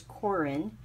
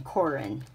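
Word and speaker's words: Koren: It is Corin. I think it's just my accent. It's K-O-R-E-N, Corin.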